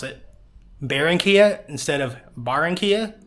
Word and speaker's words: Barranquilla: it to barenia columia it's barenia not baronia in English if it's b a r r it's automatically bear like Barracuda so that's what made me want to pronounce it baronia instead of barenia pronounce the A and